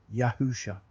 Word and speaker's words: Yahusha: hasn't changed we know there's no more accurate pronunciation of his name yahusha he is our Messiah our deliverer and he